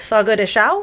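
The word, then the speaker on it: Fogo de Chão: Brazilian steakhouse and it's Fogo de Chao I think is how you pronounce it the last word is c h a o with a little squiggly over the a so I I think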